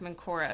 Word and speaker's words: Menkaure: So, actually it's pronounced Menkaure apparently.